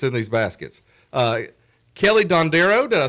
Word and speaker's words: DonDero: Uh Kelly Dandereo, did I say it right?